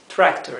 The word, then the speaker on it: tractor: no se olviden que la r inglesa es r r bien no es Dental no se pronuncia con la lengua sobre los dientes como la r española sino que se pronuncia con la la lengua hacia atrás sobre el paladar bien eh la lengua